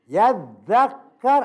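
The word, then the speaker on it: يذّكّر: Yadzakar asalnya yatadzakar. Taknya dituang pada zal, makanya bacanya yadzakar.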